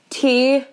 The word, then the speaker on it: Tylar: have to ask like 80 times how to spell it. Like, and my name. Mm-hmm. Yeah. So it's T-Y-L-A-R.